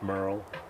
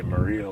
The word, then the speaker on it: Murrill: And it's pronounced Murrill. Okay. Yeah. Like Haggard. Yeah, but spelled, like most people want to say Murrill or any other thing like that.